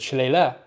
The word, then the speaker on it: shillelagh: upgrade as an aside there is no particular consensus in irand as that how pronounced shalele the most common is shalele what I say but Shala is also a thing particular particularly in the Southeast but if pluralized Alam